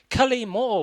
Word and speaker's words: Cullimore: I stress the first syllable, Cullimore, and I like the way you sort of stress the first and the third syllables.